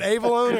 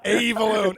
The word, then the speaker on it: Avellone: Chris, is it Avellone or I've been saying Avellone. Avellone calling. It's Avellone, but actually, yeah. You know what? I like your pronunciation better.